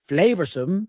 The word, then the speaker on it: flavorsome: number 10 is flavorsome flavorsome means delicious and full of flavor notice the pronunciation two schah sounds there flow sum the sauce proved incredibly